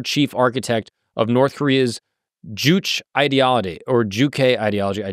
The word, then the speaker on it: Juche: self-reliance is essential about pronouncing it. Simply Juche.